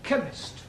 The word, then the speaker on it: chemist: Ali yes please spell chemist oh blame me k e n chemist does not begin with a k it sounds like it begins with k CH H but that